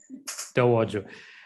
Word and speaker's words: Towoju: So first, there is now a to-do block, but David, I don't know how to pronounce the surname, Towoju, depends. Yes. Towoju.